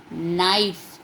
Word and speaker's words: knife: Then knife. It starts with K. K is silent over here, so we will tick this one.